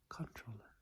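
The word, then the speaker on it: comptroller: like comp troller but it's pronounced like controller controller control acid video game controller remote controller control control and control itself next one 24.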